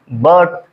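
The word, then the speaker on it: birth: तो जब आप ब पढ़ेंगे तो देखेंगे तो आई का उच्चारण हल्का सा अ में, बर्थ, बर्थ।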